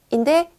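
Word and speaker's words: in: 전 지사는 전치사 애니입니다 n 같은 경우에는요 우리말의 e 거라는 게 약간 발음이 달라요 아래 턱에 힘을 약간 빼시고 으 으 와 어 의 중간 인데 소리를 내는 것처럼 하셔서 인 하시면 됩니다 이게 입술 양 옆을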